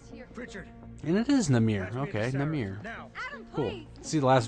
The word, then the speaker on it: Namir: after brought us here Richard and it is namir okay namir see the last video I wasn't sure on how to pronounce it because wasn't really paying attention would